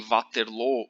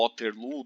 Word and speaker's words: Waterloo: ele é finalmente derrotado em Waterloo ou Waterloo, dependendo da pronúncia que você escolher para o nome da cidade.